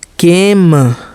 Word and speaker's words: came: CAME केम, यम के बाद ई जो है उसको हम लोग नहीं पढ़े, यम ई का उच्चारण हम लोग नहीं किए, ठीक है।